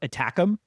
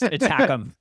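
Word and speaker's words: ATACMS: The American is is it's an acronym, but it's pronounced attackum.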